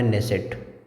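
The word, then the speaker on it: Knesset: संसद का नाम है नेसेट इंग्लिश में अगर लिखना हो तो के एन E double S ई टी के यहां यहां पे साइलेंट रहता है।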